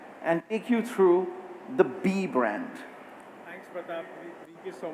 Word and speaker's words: BE: so let's first begin by talking about be I just want to clarify again it's spelled be but the brand is pronounced B and when we talk